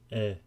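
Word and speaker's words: へ: While he is normally pronounced he when it is being used as a particle, it is always pronounced e.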